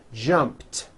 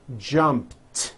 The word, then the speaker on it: jumped: sound at the end jumped of course the word is spelled with an e D ending it's just pronounced as a T jumped like that the word